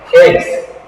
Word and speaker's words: hex: Hexa. Ex. El ex, pero con H, el ex. No duele tanto porque es con H.